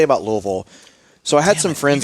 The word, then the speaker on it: Louisville: Can you pronounce it Louisville or Louisville? And it's neither of those. It's Louisville. Yeah.